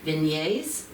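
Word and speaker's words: vignette: It's done in um uh Vign Vignet. That's the short how do you pronounce is vin v i g n e t c but it's vignet.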